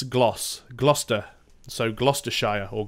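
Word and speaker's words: Gloucestershire: know a lot of Americans that I know pronounce it Glouster Shire but in the UK its gloss Gloucester so Gloucester Shia or Gloucester Shearer depending on the part of the UK but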